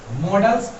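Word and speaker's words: modals: कुछ लोग इसको मॉडल्स बोलते हैं, कुछ लोग इसको मोडाल्स बोलते हैं। दो अलग तरह का प्रोनाउंसिएशन सुनते हैं बड़े में, आपको जो आप लोग जो बोलते हैं बस वो यूज करो।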